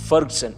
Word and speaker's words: Ferguson: It's not Ferguson, it's Ferguson without the U. फर्गसन और फर्ग्यूसन क्या फ़र्क पड़ता है? The right pronunciation is Ferguson. It's Ferguson for God's sake.